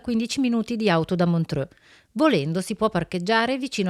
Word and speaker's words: Montreux: Giustamente Valentina mi corregge e non si dice Montreux, ma si dice Montreux, giusto? Montreux, Montreux. una fantastica pronuncia francese.